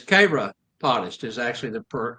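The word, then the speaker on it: chiropodist: It's spelled C H I R O P O D I S T, which most people try to pronounce it is Chyropodist. Kyropotist, but it's Kraottist is actually the correct pronunciation on that.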